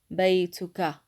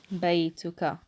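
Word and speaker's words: بيتكَ: In formal, in standard, we pronounce the ta with a dhamma and we put a fatha on top of the kaf here. Baytuka. Baytuka.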